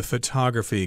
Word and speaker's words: photograph: word we're using so a picture is called a photograph there the accent is on the first syllable but if you talk